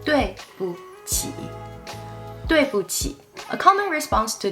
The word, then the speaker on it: 对不起: Notice the tone here. The word in the middle, 不, here is pronounced in a neutral tone. It's lighter and softer than the normal pronunciation 不 or 不. 对不起.